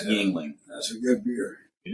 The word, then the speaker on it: Yuengling: let me take people this man cannot pronounce Yingling to save his life he's been drinking it for at least 10 years and cannot pronounce Yuengling that's a good beer